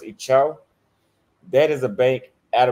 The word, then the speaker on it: Itaú: Then I found the top banks in Chile, which, for example, I believe is pronounced in Portuguese, it's pronounced Itaú.